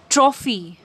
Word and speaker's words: trophy: Afaile pani word lai pronunciation karnus. Trophy.